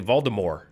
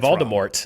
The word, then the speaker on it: Voldemort: Although I was reading in the Harry Potter audiobooks, they say Voldemort. And then the feature said Voldemort. Wrong. So there's a pronunciation problem. He's using the original French. It's Voldemort.